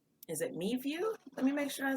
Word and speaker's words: MeVue: Yeah, MeView, MEVUE.